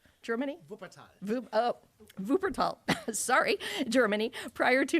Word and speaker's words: Wuppertal: If I'm saying it right, Wuppertal, Germany? Wuppertal.